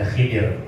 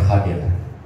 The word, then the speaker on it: Khadir: nabi Khadir nabi Khadir orang banyak bacanya Khidir tapi enggak benar Khadir ya Khadir fathil tadi